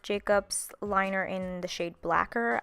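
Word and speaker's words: Blacquer: liner in the shade blacker I think spelled like lacquer but with a b and an L I'm using that to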